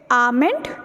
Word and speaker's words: almond: So it's almond या फिर amend. L इसमें से totally skipped है.